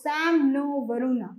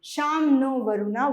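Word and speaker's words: शं नो वरुणः: The emblem of the Indian Navy contains the motto Sam No Varuna, pronounced Sham No Varuna, which means be auspicious to us, O Varuna.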